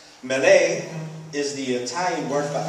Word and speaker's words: Mele: My name is Mele. That's spelled M-E-L-E. Mele is the Italian word for apples.